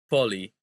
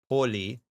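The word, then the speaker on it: πολύ: So this kind of word, poli, poli is called oxytone, right? Okay. Oxytono. And that means that the stress is on the final syllable.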